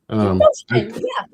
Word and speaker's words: Beauchemin: Beauchemin, yeah. I keep saying it slightly different each time. It's French, so technically it's 2 words and 3 syllables. Beauchemin, which means beautiful road.